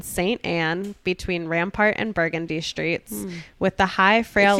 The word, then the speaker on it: Burgundy: So there's one that's spelled the same way you would spell the color burgundy, but it's pronounced Burgundy.